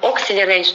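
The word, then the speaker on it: Acceler8: имеет переводит и execration много по-русски говорят это atelier но правильный вы произносить нужно acceleration acceleration переводится это как быстрое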